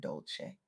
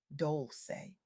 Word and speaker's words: Dolce: I'm your host Dolce, pronounced dol-say, like sweet softness whispered in French.